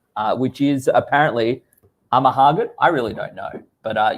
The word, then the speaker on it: Amahagan: So it's just Nagahama backwards. which is apparently Amahagan.